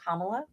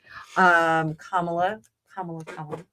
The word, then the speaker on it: Kamala: Kamala. I'm not saying her name wrong. Kamala.